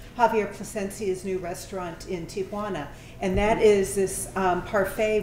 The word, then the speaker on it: Tijuana: There is no effing A there.